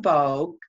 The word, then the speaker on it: Vogue: my name is vogue kind of like vogue magazine is the way we pronounce it and i am a